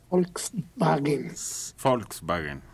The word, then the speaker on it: Volkswagen: trabajé dos años ahí la pronunciación correcta es folk en volkswagen y sus poblaciones llegó